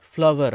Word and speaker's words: flour: நம்மள பல பேர் இதை வந்து ஃப்ளோர் அப்படின்னு தான் உச்சரிச்சுட்டு இருக்கிறோம். ஏன்னா நம்மளை சொல்லி தப்பு இல்லை, ஏன்னா நம்மளை சுற்றி இருக்கிறவங்க நிறைய பேர் இப்படி தான் உச்சரிக்கிறாங்க. அதாவது வீட் ஃப்ளோர் அப்படின்னு தான் சொல்லுவாங்களே தவிர வீட் ஃப்ளவர் அப்படின்னு சொல்ல மாட்டாங்க. ஆனால் முறையான உச்சரிப்பு என்னன்னு கேட்டிங்கன்னா FLOUR, ஃப்ளவர் அப்படின்னு தான் உச்சரிக்கணும்.